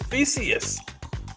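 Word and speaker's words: Theseus: we're not there yet who knows this way it rhymes with Perseus this is Theus Theus Theus is renowned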